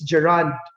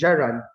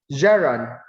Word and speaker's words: gerund: i pronounce it as gerand take the stress is on the second syllable then just read not so recently i learned that this pronunciation is geron the stress is on the first syllable geron gerund phrase gera okay